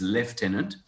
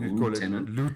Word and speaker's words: lieutenant: left of lieutenant is lieutenant that's the english way it's the americans and south africans who call it lieutenant and yeah it's a